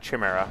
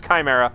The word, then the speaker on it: Chimera: I frequently like to pronounce that Chimera, and no, it is Chimera. I've been corrected on it.